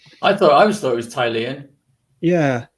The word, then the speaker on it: Tilea: But taking the name and pronouncing it in Italian, with trying not to be racist in view of the recent conversation, it would be more like Tilea.